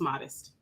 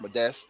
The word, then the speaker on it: Modeste: So I actually spell it modest. It's a long story behind it because people always get it wrong, but it's actually pronounced modeste. It has a French derivative, so Got it's it.